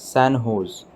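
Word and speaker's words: San José: in the u.s recently sanjo's pronounced as sanho's state university of which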